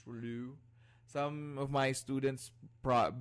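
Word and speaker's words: rouleaux: the capacity what about alfonso all right so pronunciation is fine as well it's actually relu formation thank you so much this is known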